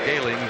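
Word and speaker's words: Gehling: into the ball game comes giling g e h l i n g pronounced G hard to imagine with the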